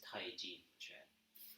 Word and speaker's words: Taijiquan: This art is Taiji Chuan, right? Because T, right? Tai, we got that. CHI is different from CH apostrophe I. This would be pronounced Chi. This is pronounced G. This is actually CH apostrophe UAN. Tai Ji Chuan. Okay, in Pinyin it's TAIJIQUAN.